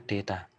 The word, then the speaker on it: data: grup data grup Deta Kalau bahasa Inggrisnya ya data itu Deta bacanya Iya jadi ini salah